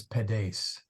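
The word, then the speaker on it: pedes: you you make no the accent is on the first syllable P but you got to make the ace long so it comes out as just sounding like you're accenting the last syllable there well I probably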